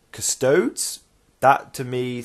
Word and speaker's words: Custodes: you pronounce this it's some people say curse toads some people stay custody's and so we will say custards okay so I'll try I'm gonna go with custodes that to me sounds